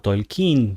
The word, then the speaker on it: Tolkien: escrita por el señor Tolkien o Tolkin, como sería la pronunciación original oficial en inglés, pero es suena mal, digamos. Es mejor decirle Tolkien.